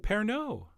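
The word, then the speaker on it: Pernod: a little splash of parano oh yeah the D is silent in fact the O is almost silent and if you haven't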